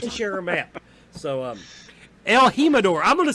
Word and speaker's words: El Jimador: Is it El Jimador? I hope it's not pronounced well, like if it's a J, it's going to be Jimador. El Jimador. Okay, it's going to be... If it's a J, it's an H, yeah.